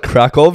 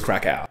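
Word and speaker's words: Kraków: oh I really like krakov in Poland like different but so cheap I always thought it was crack out yeah that's how you spell it yeah yeah but I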